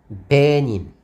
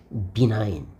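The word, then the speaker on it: benign: 발음 한번 해 보라니까 어떤 학생들이 뭐라고 하면 이렇게 읽었습니다 베닌 뒤로 넘어질 일이죠 피니까 베닌 이게 무엇입니까 여러분들 비나인 비나인 인장이란 뜻으로 비나인 비나인이라 뜻입니다 근데 베인 베인 하고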